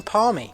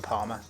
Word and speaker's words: parmy: you it's a chicken parma. I don't understand how you can have such disagreements about the pronunciation of a chicken parmigiana. But don't worry, anyone that tells you it's a chicken parma is wrong.